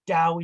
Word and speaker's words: Dao: spelled with a T, but in China, Dao is with a very silent T, but it's more bigger D.